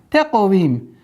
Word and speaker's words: تقويم: Таквим. Мягкий и твердый. Каф, твердый звук, плюс еще правило калькаля.